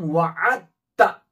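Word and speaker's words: واعدت: अब ये दाल पढ़ने में साइलेंट रहेगा। अब पढ़ेंगे हम वाअत्ता, वाअत्ता। अब जो ये ता है, यहां पर ता के ऊपर तशदीद आएगी, लिखने में ता के ऊपर तशदीद लिखेंगे और जबर उसके ऊपर। तो क्या पढ़ेंगे, वाअत्ता। दाल पढ़ने में नहीं आएगा, साइलेंट रहेगा।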